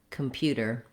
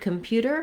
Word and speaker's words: computer: In this video, we'll look at how to pronounce computer. So the word computer has the stress on the second syllable pew, and letter U in this word says two sounds.